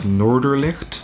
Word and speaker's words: Noorderlicht: There's another eatery, Café Greenhouse Noorderlicht, Dutch pronunciation, which is where we went.